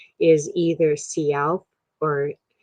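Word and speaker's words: Si'ahl: of seattle is named after him the correct pronunciation of his name is either cialp or seattle with which is what we tend to interpret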